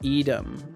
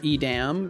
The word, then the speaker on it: Edam: And it's pronounced edam or edam.